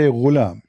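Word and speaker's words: غلام: Al-ghulam بضم الغين, which mean you say ghulam.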